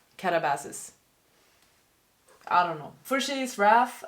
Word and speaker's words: katabasis: read in preparation for katabasis am I saying it correctly I saw someone online say that it's katabasis not katabasis I don't know for's